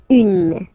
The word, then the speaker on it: une: Then the feminine article is here, and it's easier because if you have this U, N, E, then you pronounce it une.